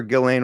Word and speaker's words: Ghislaine: Whenever Ghislaine would go out there, and it's the S is silent, by the way, boys.